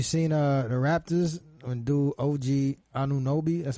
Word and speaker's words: OG Anunoby: You seen the Raptors when dude OG Anunoby, that's how you pronounce that nigga name, that hit that buzzer beater?